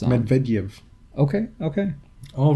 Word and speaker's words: Medvedev: No, I don't remember where, because he pronounces the E differently on one of the syllables, and I can't remember which one. It's like a Y. Yes, but do you know which syllable it's on? Medvedev.